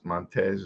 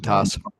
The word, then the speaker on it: Montas: I hate to start it off talking about, the injuries, but this guy Montez, or how you pronounce his name, Montas. Montas. Montas.